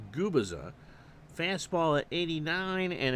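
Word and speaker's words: Gubicza: complete games he's 26 and is pronounced guiza fast ball at 89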